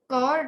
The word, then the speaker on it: chord: Ma'am, how do we pronounce cord, ma'am?